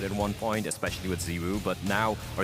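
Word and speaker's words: ZywOo: but now, or Zaiwu, I still don't know how to pronounce his name. Ziwu? It sounds better, right? It's Everyone French. says Zaiwu, but... I think it is Zaiwu. I think he himself said it's Zaiwu, right?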